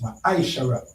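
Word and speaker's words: מעשר: It means tent in the Hebrew and is pronounced maishara.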